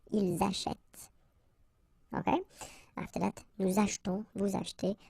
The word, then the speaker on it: achetons: After that, nous achetons, vous achetez. Remember this here is silent or mute.